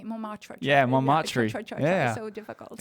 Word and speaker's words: Montmartre: you got an audio tour through Montmartre and the Yes.